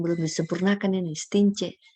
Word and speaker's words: Stintje: Nah, ejaan belum disempurnakan ini, Stince. Bacanya C tapi dia masih TJ.